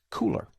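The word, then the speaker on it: Kuler: May I suggest Cooler? Now, it's spelled K-U-L-E-R, but it is called Cooler, as in, hey, it's cool.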